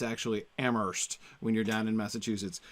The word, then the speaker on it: Amherst: I say in Amherst but I keep saying Amherst and I know in Massachusetts they don't pronounce the age I grew up and Amherst